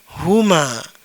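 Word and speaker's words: هما: Kemudian yang ini ini dibaca huma dia berdua boleh laki-laki boleh juga perempuan.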